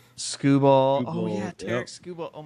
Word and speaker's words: Skubal: Skubal.